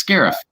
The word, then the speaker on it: Scarif: i'm looking at it i thought it said sheriff at first that might that might be how you pronounce it it's scarif scarf yeah i'll say speaking